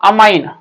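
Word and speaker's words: amine: NH2, NH2 मतलब क्या, अमाइन। याद रखना NH2 मतलब क्या, अमाइन। कोई कोई अमीन भी बोलता है उसको, तो अमाइन और अमीन जैसा प्रोनाउंस करना है करो, लिखो सिर्फ ऐसा ही लिखो।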